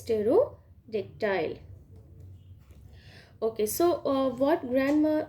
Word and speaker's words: Pterodactyl: Be careful with this pronunciation. This is Stegosaurus and this is Pterodactyl.